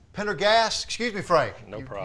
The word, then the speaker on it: Pendergast: we're joined by Frank Pendergrast Pendergrass excuse me Frank no problem you told me the r is silent in there so uh we're talking